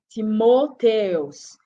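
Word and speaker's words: Τιμόθεος: Its name in Greek is pronounced Timotheus.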